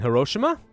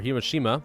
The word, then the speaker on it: Hiroshima: Alright, let's try landing these guys in Hiroshima. Or Hiroshima, depending on how you want to pronounce it.